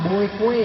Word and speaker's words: Boekwe: Di peta kolonial itu disebutkan nama tulis ejaannya itu ejaan lama Boekwe, ya. Tapi bacanya buku.